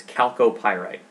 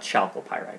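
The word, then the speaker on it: chalcopyrite: greener so this is calco pyrite it's spelled with a ch it's not chalky pyrite it's calculated next up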